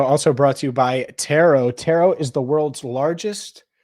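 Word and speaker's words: Turo: Dynasty today show also brought to you by tarot tarot is the world's largest car sharing marketplace with tarot and it's t-u-r-o but it is pronounced tarot you can book any car you want wherever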